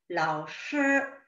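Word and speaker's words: 老师: 老师 라는 표현에 师 라는 표현은 권설음이라는 표현입니다. 권설음은 중국어에서 혀를 말아서 내는 소리입니다. 혀를 말아서 낸다고 해서 R 발음처럼 너무 혀를 말아버리시면 안 되고요. 혀 끝을 약간 혀 끝에 힘을 준다 정도로 老师 라고 표현을 하십니다.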